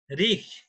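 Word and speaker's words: Reich: German third রিখ, এদের উচ্চারণটা হলো রিখ।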